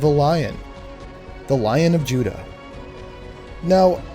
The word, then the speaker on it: Judah: one of these grandsons Judah pronounced in Hebrew as Yehuda son of Jacob and